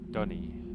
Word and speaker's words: Dunny: So there's the Dooney number 5 again. It's everywhere in this. Dunny is how you pronounce it.